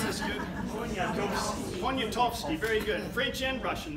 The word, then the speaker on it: Poniatowski: Stanislaus any Russians here that can pronounce this good? Poniatowski, very good. French and Russian, that's great. Czech also. Oh, wow. You need to keep you around. Poniatowski, he was a secretary to an Englishman, but he was Polish.